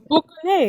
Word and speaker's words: boucane: Boucane. And I don't know if I'm saying it right. Bukane, yeah. Okay. Bukane. Yeah.